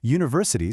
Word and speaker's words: university: And on the flip side, university starts with the letter U, a vowel. But the first sound is u like the letter Y.